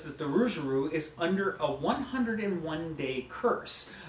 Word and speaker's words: Rougarou: And it sounds so cool when you roll your R, which I can't do. Rougarou?